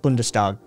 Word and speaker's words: Bundestag: Even perfectly pronounced Bundestag.